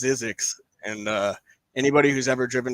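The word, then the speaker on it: Zzyzx: Oh, I believe that's pronounced Zizix.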